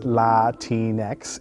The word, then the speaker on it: Latinx: Latinx, pronounced Latinx, is a gender-neutral word to describe people of Latin American descent.